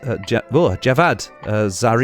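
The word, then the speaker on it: Javad Zarif: you pronounce it um Muhammad Javas Javad Zar that's how you pronounce it um look I'm I'm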